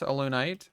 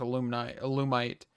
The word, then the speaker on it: alunite: It's no, it's alunite. I was thinking it was alumite.